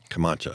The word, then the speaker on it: Camacho: Camacho, yeah.